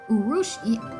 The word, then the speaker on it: urushiol: Poison ivy, poison oak, and poison sumac all produce an oil called urushiol, pronounced urushiol.